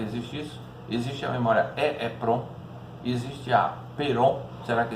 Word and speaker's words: EEPROM: EEPROM, também escrita E2 elevado PROM e pronunciada EEPROM, sigla do inglês Electric Erasable Programmable Read Only Memory, né?